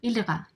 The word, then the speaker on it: ilira: Um, well, so the early years of my career were spent in what a state I call ilira. Ilira is Inuktitut for emotional fear. ILIRA is how you spell it.